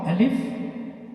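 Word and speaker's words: ألف: alif which is already discussed it is short alif you have to pronounce ali don't pronounce like pronounce it alif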